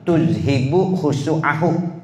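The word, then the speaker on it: تذهب خشوعه: nanti akan mendapatkan kesulitan, tuzhibu khusu'ahu, begitu bacanya.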